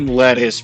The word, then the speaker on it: LeTouse: It's supposed to be pronounced lettuce because his first name is Roma, but I've been just because it's funny.